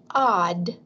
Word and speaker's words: aud: it's odd aud and we pronounce it odd okay so that's that